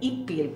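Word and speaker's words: huipil: del ipil se llama wipil o aquí con los maya yucatecos dicen ipil porque los mayas de aquí no hacen el sonido de wipil esta se llama fustan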